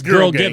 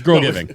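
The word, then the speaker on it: GRL GVNG: It get confused a lot of people when it first came out because it's spelled GRL Yeah. and then GVNG, Yeah. which is It's- just, yeah. But it's girl gang. giving. It's girl giving.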